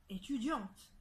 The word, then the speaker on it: étudiante: Alors, au féminin, ça devient étudiante. D'accord? Alors, étudiante, on prononce bien le T qui était auparavant muet. En revanche, le E est muet.